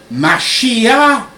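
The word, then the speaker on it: משיח: Dans le judaïsme, Messie, qui se dit en hébreu Mashiach, et dans le texte original des Écritures, et en grec, qui se prononce Christos, qui signifie oint, couvert d'huile.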